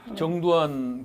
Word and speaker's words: 정두환: 근데 정두환 그 발음할 때 좀 조심해야 돼. 왜냐하면 잘못 발음하면 정반대 인물이 나와요.